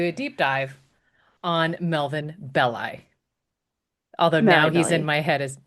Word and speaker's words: Belli: I think I called him Belly, but is apparently is pronounced Belli.